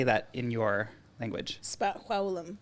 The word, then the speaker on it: spaxwawlm: how do you say that in your language spum spum SP spum nice my name in my indigenous